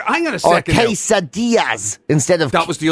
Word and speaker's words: quesadillas: That's but it's pronounced quesadillas.